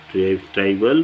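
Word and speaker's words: trivial: है, इसको बोलते हैं ट्राइबल रिलेशन या ट्रिबल बोलते हैं, सब लोग अलग अलग प्रोनाउंसिएशन करते हैं।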